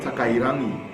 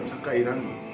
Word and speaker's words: Takairangi: Takairangi. I like that. That's how you say it, bro. Takairangi.